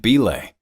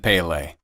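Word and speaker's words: Bilé: wants to play like local football legend belay but he pronounces it Pele they laugh at him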